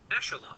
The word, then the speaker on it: echelon: Echelon.